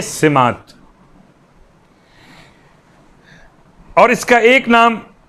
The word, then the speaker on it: سمات: خدمت میں کہوں کہ تلفظ لوگ سماعت کر رہے ہیں، لفظ سماعت نہیں، زبر کے ساتھ نہیں بلکہ زیر کے ساتھ، دعائے سماعت۔ اور اس کا ایک